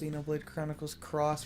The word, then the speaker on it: Xenoblade Chronicles X: controls it's just bad I think it's pronounced Xenoblade Chronicles cross for some God forsaken reason all right so we're